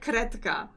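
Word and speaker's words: kredka: I was taught to say kretka. Okay. Because in Polish we don't call them crayons, we call them kredki woskowe.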